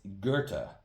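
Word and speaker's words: Goethe: I've been saying go my whole life and it's Gerta.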